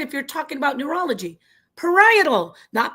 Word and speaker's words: parietal: Parietal. Not parishal, not perily, not parallel. It's parietal.